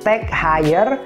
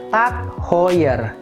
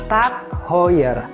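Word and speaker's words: TAG Heuer: cukup terkenal juga dan sering kita sebut sebagai tag higher atau Tech hoer padahal seharusnya pengucapannya yang benar adalah tak hoer tak hoer tak hoer tak hoer oke langsung aja lanjut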